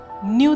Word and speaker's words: knew: Imagine if I wrote the sentence, I knew the manager with NEW. Both the words KNEW and NEW are similar in sound, but the similarity ends there.